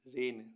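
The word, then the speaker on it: reign: त्याग पत्र देना आर ई आई जी एन रेन रेन मीस राज्य करना एफ ओ आर ई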